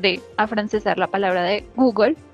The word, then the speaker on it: Google: En español y en inglés decimos Google con la sílaba, perdón, la sílaba final que suena como gol, Google, ¿sí? Para referirnos al buscador más grande de internet. Esta sílaba final es pronunciada por nuestros amigos franceses como gueule, quizás porque pues muchas